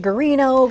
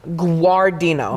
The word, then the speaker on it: Guardino: had actually some tea you say aw like a little bit of a w but it's a you got it guar Deena who are Dean I